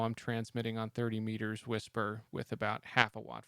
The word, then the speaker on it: WSPR: a as a beacon it's pronounced whisper written by Joe Taylor